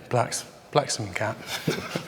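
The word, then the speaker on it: Blaksmcat: Somebody called Black's Cat, how do you pronounce that? Yeah, Blacksome Cat.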